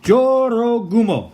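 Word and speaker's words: 女郎蜘蛛: we are back and it turns out it's pronounced Joro Gumo according to Google that's how Google pronounced it what you want but not being mean that's what it said okay Jorah boom Oh was Japanese folklore what was what did they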